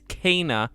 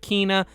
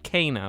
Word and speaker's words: Kena: It is Kana. It's not Kina. It's not Kenna. It's Kana.